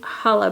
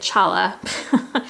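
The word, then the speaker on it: Challah: so light warm creamy Hala bread last year I said Chala like a doofus of course the sea is silent and a buttery brown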